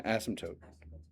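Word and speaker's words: asymptote: It has two syllables, but you might think of it with three. My student teacher that that's Oh, yeah. There you go. There's an asmtote.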